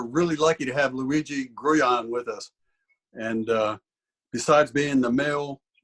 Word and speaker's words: Grullon: Okay, first of all, Luigi, how do you pronounce your name? And I'm sure I got it wrong. You say it right. Grullon. Grullon.